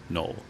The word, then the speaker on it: Noel: Most of the year, however, area residents pronounced the town as null.